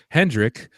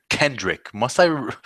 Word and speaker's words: Kendrick: Patrick Hendrick with us. Patrick Kendrick. Must you get his name wrong every week? There's a K in the last name, not just because the Twitter handle doesn't have it there.